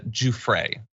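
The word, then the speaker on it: Giuffre: uh let's see I I am being told that it's uh JRA I apologize for the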